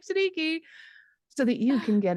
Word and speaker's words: Siddiqi: So my name is Siddiqi. It rhymes with cheeky or freaky, depending on what context we're using.